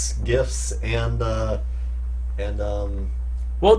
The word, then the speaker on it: GIF: be like giraffe so it's a jish sound not a hard G what about about gift